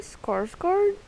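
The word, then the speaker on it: Skarsgård: and also bill i'm not even going to pronounce his last it's actually skarsgard so it's not the heart you know he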